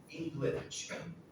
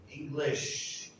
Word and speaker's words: English: I won't tell you her name, but she says English. English. That's not how you say it. English.